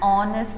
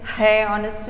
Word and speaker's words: honest: but do you say hey honest man no yeah because you know h happens to be silent isn't it h happens to be